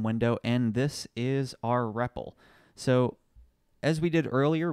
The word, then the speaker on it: REPL: do this is using what's known as a repple this is written out our EPL but it's pronounced repple and this stands for read evaluate